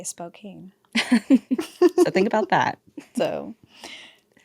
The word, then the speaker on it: Spokane: Is it Spokane or Spokane? I think it's Spokane. I feel like it is too, but it's spelled like Spokane. I feel like it's a Nevada thing, but I'm almost certain it's Spokane. I'm almost certain it's also Spokane. People will tell us.